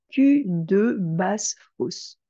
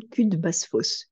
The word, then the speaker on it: cul de basse-fosse: Alors, un cul de basse-fosse, donc vous entendez au niveau de la prononciation, cul de basse-fosse. Quand on le prononce à vitesse normale, ça donne cul de basse-fosse, cul de basse-fosse.